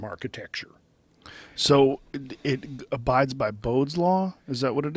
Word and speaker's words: Bode: what it is yes I think it's bidet I think that's how you say it b-o-d-e-s is that what it was just b-o-d-e b-o-d-e oh it's Bode yeah and I've only seen